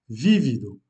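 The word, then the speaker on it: vívido: sur le premier i, vivido, veut dire vif, et sans accent, vivido. Donc il se prononce déjà de façon différente et veut dire vécu. Donc vivido, vécu, vivido. On accentue la première syllabe, vivido, vif.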